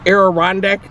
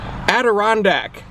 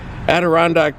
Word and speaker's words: Adirondack: all these aerodynamic chairs aeron deck chairs however you say that i think i just murdered the pronunciation adirondack that's how you say it adirondack chairs there's they've got